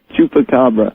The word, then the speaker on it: chupacabra: Chupacabra.